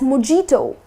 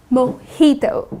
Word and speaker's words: mojito: But people tend to pronounce it as mojito -that's incorrect the correct pronunciation is 'Moheeto' So instead of putting stress on the 'j' you gonna say mojito.